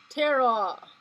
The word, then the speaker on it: Tara: She's pronounced Tara, is a Hindu and Buddhist goddess whose name means star.